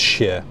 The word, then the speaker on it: shire: Most of the counties in the UK end in this word shire, right? It's always pronounced shire. Berkshire, Oxfordshire, Yorkshire. It is not Berkshire, Oxfordshire, or Yorkshire, or anything like that.